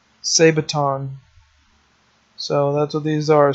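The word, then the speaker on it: sabaton: then I went and looked up how to say this it's a say baton so that's what these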